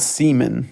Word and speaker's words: Seaman: Yes, it's Seaman, spelled Seaman, but it sounds like seaman. The name and the concept is the only reason I like this game. Like I said, it was literally pronounced seaman, like that weird Spider-Man shit that shoots out of you.